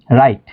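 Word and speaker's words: write: জানা নাইট যোদ্ধা এরপরে শব্দের এর শুরুতে যদি ডাবলিউ এবং আর থাকে তবে ডাবলিউ সাইলেন্ট থাকে যেমন রাইট লেখা রং ভুল র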